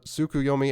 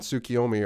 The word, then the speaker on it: Tsukuyomi: i have before uh tsukuyomi and tsukiomi are actually both correct pronunciations it all depends on what version of japanese you pronounce it in but they're both technically right it's weird anyway fix